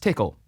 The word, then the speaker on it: Tcl: command language which is abbreviated as tcl and often pronounced tickle it was designed to